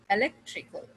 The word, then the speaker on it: electrical: तो इस पे जो है you will put a stress on the third from the last syllable. The last syllable is kal, electrical, electrical, electrical. Say it again, electrical. Lek is a third, tree is second, and first is kal from the last. So the third is lek, electrical.